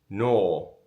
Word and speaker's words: Nuo: Not even stayed in, seen, also stayed in. But it's stunning. Let's get started. We Googled it. No is the pronunciation.